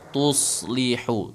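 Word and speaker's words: تصلحوا: tips nih teman-teman bagaimana cara menebalkan shad yang berbaris sukun ya jadi kan bacanya wa tuslih jadi cara Apa latihannya? Latihannya ini latihannya ya, bukan bacanya. Latihannya itu gini. Tuso. Tuso. Tuso. Ah. Itu difathahkan aja dulu. Tuso. Tuso. Tuso. Kan gitu ya. Jadi kemudian disukunkan aja aslinya tuso. Tuslihu.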